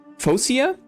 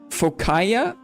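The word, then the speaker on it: Phocaea: The Greeks formed their colony at Masilia around 600 BC coming from from Fosia or Fokaya depending on how you pronounce it.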